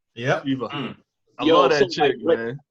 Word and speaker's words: Shiva: Is that how you pronounce her name? Yep. Shiva.